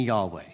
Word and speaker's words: Yahweh: The two most common pronunciations at this point are Jehovah and Yahweh.